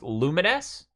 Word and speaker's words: Lumines: theme oh it's for the game lumines uh pronounced lumines uh it is there's a PS4 version of